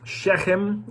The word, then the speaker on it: Shechem: as far as shechem shechem is how it looks in the bible shechem is how it's pronounced and we're also told